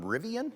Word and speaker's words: Rivian: Rivian? Is that how it's pronounced?